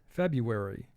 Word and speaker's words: February: word feb you are february notice under the r we have a wave sign the wave sign indicates a letter is silent and the r is silent in pronouncing this word mechanical mechanical i am